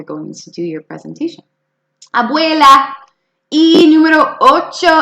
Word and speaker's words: abuela: the grandmother yes listen abuela see the U and the e in there making the way sound abuela there in your house abuela that's a good question